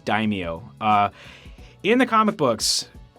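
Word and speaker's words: Daimio: wrong a lot before it's d a i m i o I don't know how to pronounce that I think it's Dao uh in the comic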